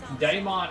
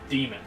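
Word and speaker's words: Daemon: normally say it but the actual proper pronunciation for d a e m o n would be demon yeah but uh so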